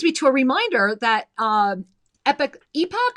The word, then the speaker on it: epoch: And that brings me to a reminder that epoch or epic? I always say it wrong. It's spelled epoch, but they call it epoch.